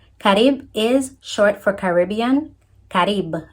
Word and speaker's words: Carib: Carib, as pronunciation in Spanish.